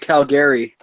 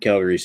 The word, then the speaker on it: Calgary: It's pronounced Calgary. Calgary. Oh, that's right. Calgary. True. Yeah, it's named after a Scottish island.